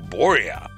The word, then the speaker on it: Burja: Today's guest is Burja. That's spelled B-U-R-J-A, by the way, for those who want to look him up. It's not spelled, at least in English, the way it sounds.